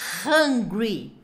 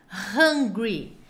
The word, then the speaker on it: hungry: bravo tão com fome tem um h no começo então se não tem que fazer hungry hungry e o bravo é angry hungry e angry hungry hungry angry angry